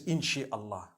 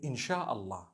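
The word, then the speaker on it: إن شاء الله: Inshi means to create. No one says inshi Allah. They say insha'Allah. That's what it is.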